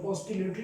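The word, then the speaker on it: oscillatory: ऑसिलेटरी भी लोग पढ़ते थे बट सी साइलेंट है, ऑसिलेटरी मोशन होता है।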